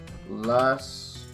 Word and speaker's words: lascivious: Lascivious. That's how it's pronounced.